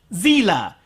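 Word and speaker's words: Seele: at it it's pronounced Zilla Zilla is German for soul and the Germans don't pronounce it s God damn it evangelon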